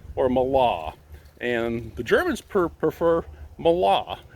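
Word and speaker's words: Mahle: uh i say mala i'll go with the german pronunciation but anyway the what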